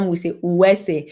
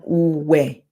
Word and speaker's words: Uwe: U is the short form. U, because R, a single R, yeah, a single R in Edo language is silent when it comes before a vowel, right? When it comes before a vowel, it's silent. So Uwe, U, yeah, some